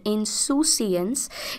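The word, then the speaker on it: insouciance: word that we have इसे इन सोसिस की तरह प्रोनाउंस किया जाता है this word is called इनसू सिएंस इंसं noun का अर्थ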